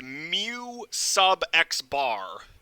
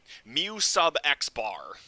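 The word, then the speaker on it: μx̄: this symbol is pronounced mu sub x bar this symbol here is pronounced mu sub x bar it's because it's a subscript mu sub x bar is how you pronounce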